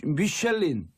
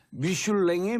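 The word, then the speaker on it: Michelin: 미슐린. 네. 미슐랭의 미슐린이에요. 이게 이제 영어로는 미슐린. 네, 영어로는 불어 발음으로 미슐린이고 미슐랭. 불어로 하면은 미슐란에 갈까요? 미슐란.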